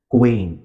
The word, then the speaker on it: quaint: structures that it has quaint remember rhymes with paint it has the same middle vowel a quaint good meticulously planned